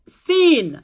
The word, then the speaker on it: thin: I keep pronouncing TH as T. No, it's thin.